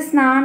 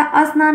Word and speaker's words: स्नान: स में आ है लेकिन स्नान पढ़ा जाता अ स्नान नहीं पढ़ा जाता और ये गलत भी